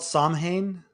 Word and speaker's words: Samhain: I'm gonna mispronounce it. It's called Samhain. Yes, that's correct.